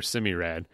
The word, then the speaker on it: Semi-Rad: Semi-rad or semi-rad? Whatever you want. I say semi. I don't know if that's correct. That's how I read it in my head.